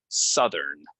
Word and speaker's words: Southern: west right and then this is pronounced south of course um that's not a word that gives anyone any trouble um but here if we're using the adjective we're gonna say Southern so it's a uh